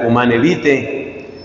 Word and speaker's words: Humanae Vitae: 1968 en la encíclica humana vite que se escribe humanae vitae los anticonceptivos separan en